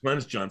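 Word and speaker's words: Glynis Johns: Glennis Johns.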